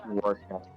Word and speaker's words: Rorschach: It's pronounced Rorschach.